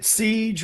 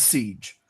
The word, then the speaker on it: SEGE: it appears as though the most common way to pronounce it, which is not phonetically correct at all, is Siege.